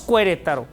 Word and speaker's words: Querétaro: Pero la E no suena, es como Querétaro, que le ponemos U, Q-U-E, Querétaro. Pero no decimos Querétaro, ¿no? Decimos Querétaro, la U la omitimos.